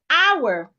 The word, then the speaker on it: hour: Example of such words I have hour. A lot of people pronounce this word as a. I'll spend two hours there. There's nothing like two hours. I'll spend two hours. The H should not be heard.